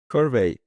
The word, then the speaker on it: Survey: Survey, it's like rhymes with survey. It's survey meaning collecting data.